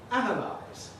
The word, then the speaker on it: analyze: call a Z, but we all agree in pronouncing it, analyze.